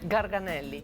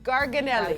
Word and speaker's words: Garganelli: Garganelli. Garganelli.